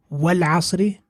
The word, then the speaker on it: وَالْعَصْرِ: وَالْعَصْرِ, we haven't pronounced the Hamzatul Wasl.